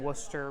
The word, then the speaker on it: Wooster: in Worcester, downtown Worcester.